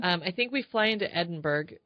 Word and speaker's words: Edinburgh: secret, but because you need to do some pronunciation, training on YouTube for like Edinburgh. You have to say Edinburgh. Edinburgh.